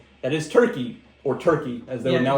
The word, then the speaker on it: Türkiye: That is Turkey, or Türkiye as they would now like to be called. It's pronounced the same, but they did change the spelling.